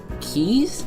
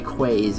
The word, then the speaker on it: quays: the end to these keys. I think they're keys. I might be pronouncing that wrong. I used to say quays, which I'm pretty sure it's not that either. So it might be keys.